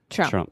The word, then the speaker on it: Trump: Yeah, and when you keep saying it faster and faster, that middle sound just disappears, and you can say Trump. Trump, Trump, Trump.